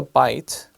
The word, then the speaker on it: byte: So it sounds like a byte, like when you bite into your hamburger or something. sandwich, then that's the same pronunciation but different letter.